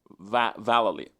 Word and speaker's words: Vallely: Vallely, okay, but he's a skateboarder too.